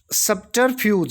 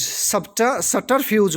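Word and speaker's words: subterfuge: सब्टरफ्यूज, सटरफ्यूज बोल लेंगे इसको, बै साइलेंट है इनमें वैसे सारों में, तो सटरफ्यूज कुछ हासिल करने का गलत तरीका।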